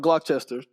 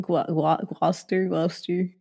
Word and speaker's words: Gloucester: Show me around Gloucester.